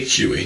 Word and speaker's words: Huy: And I believe your last name Am I pronouncing it Huey? Huey. Huey.